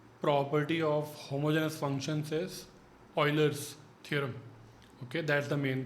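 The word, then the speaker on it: Euler: third property called the Oilers's theorem. Third is Oilers's theorem. So some people call it Uler but it's the name of the famous mathematician and it's actually pronounced Oiler.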